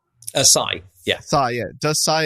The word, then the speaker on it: psi: Does Sai does SAI exist? PSI how's it pronounced? Sai.